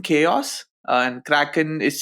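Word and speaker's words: Krkn: an incubating project the the project is called cracken chaos and Kraken is spelled weird but that's how it's pronounced uh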